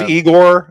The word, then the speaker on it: Iger: mean even uh even it's pronounced igore actually it's igore right even even even uh